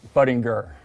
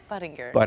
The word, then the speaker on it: Budinger: I've been in an NBA studio, we have butchered your last name more than any other. Yes. So it's Chase Budinger. Budinger.